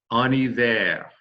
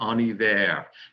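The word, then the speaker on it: en hiver: say that ani there now notice when we say uh on a day or another or ani there we go we're going to make the liaison that's the link between the n in and the vowel of the next word the name of the season so on a day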